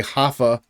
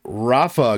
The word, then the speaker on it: Rafa: gonna pronounce that fine and they're going to say hafa hafa Garcia yeah laughs what do we do we go to tapology and we remind everyone that Rafa Garcia Senor Rafa Garcia is